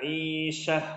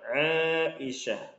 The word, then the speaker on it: Aisyah: Fatimah maryamu Maryam aisyatu nah ini yang paling sering orang-orang Indonesia salah nih bacanya bacanya nya Aisyah salah yang benar panjang Aisyah Aisyah lalu Khadijah